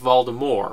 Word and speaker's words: Voldemort: with a soft R seeing as how the word is apparently French I didn't even know that I would go with Voldemort with the soft R